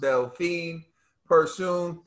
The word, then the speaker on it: Delfine Persoon: reaction to the rematch between katie teller and delphine pursuing we've been saying they'll find but it's pronounced delphine pursuing the rematch uh trill dog bill what were